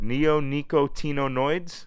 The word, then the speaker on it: neonicotinoid: what the is that word neonicotinoids what the is that can we pronounce this word neonicoto there's supposed to be